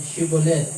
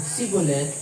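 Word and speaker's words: Shibboleth: Kapag sumagot ng hindi, pinapasabi nila ang salitang Shibolet. Kung hindi ito mabigkas ng tama, at sa halip ay sinasabing Sibolet, papatayin nila ito sa may tawiran ng ilog Jordan.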